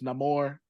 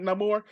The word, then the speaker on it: Namor: It's Namor. I don't care how. Namor. That's how he's pronouncing it, Namor.